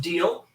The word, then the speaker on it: Diele: Diele, pronounced Deal.